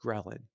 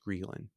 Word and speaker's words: ghrelin: What hunger really is, you can say, is our experience of a hormone called ghrelin. It can also be pronounced ghrelin, but I'll call it.